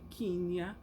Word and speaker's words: Kenya: I didn't know I was saying it wrong all the time. I was just calling it Kenya. The person told me, no, I would like to invite you to Kenya.